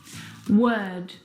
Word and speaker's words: word: world and work now you're probably mispronouncing these words because you are looking at the o r and you're trying to pronounce the vowel sound o like in do but this is incorrect the vowel sound is actually uh as in her work world word uh this is